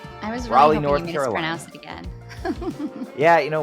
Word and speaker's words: Raleigh: today we are going to be talking about February 17 2018 from Raleigh I looked up the pronunciation this time so I made sure it's correct Raleigh North Carolina yeah you know what I we